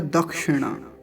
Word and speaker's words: दक्षिणा: बार कह चुका हूं यह जो क् है आपको इसका उच्चारण अच्छे से आना चाहिए दक्षिणा दक्षिणा नहीं नहीं तो कुछ लोग जब छ का का उच्चारण करते हैं तो व अशुद्ध होता है गलत होता है तो क्या बोलेंगे दक्षिणा